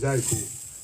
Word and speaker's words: Jaiku: Did I pronounce it right? Jaiku. It's Jaiku.